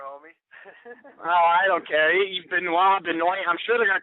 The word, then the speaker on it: Benoit: It is Benoit, huh? Yeah, he pronounces it Benoit. Jeremy was right. I was like, no, dude, it's got to be Benoit.